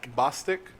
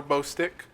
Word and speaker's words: Bostic: So Summer, I believe her last name is pronounced Bostic. Yep. I always call her Bostick because I like bow sticks.